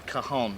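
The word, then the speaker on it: cajón: I have to say, it's impressive what sounds you can get out of the cajon, is the correct pronunciation.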